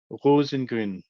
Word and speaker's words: Rosengrün: honored to have him our guest is rosengren Hugo that was perfect it was perfect pronunciation of my last name thank you very